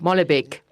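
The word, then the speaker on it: Molenbeek: How do you pronounce it?" Malbec. Malbec.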